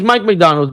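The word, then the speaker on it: Mike Macdonald: No, it's Mike McDonald, but it's spelled like Mac, like M-A-C.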